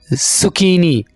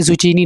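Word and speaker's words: zucchini: sugar के piece Tori जोकिनी सुकिनी यहां पर हम जो कफ की आवाज है उसको लेकर आएंगे जुचीनी आपने जुचीनी नहीं बोलना ठीक है फालूदा समरी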